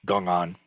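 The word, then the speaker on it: 公案: westerners often pronounce it gong on which is the uh approximate um uh Mandarin pronunciation A gungan is made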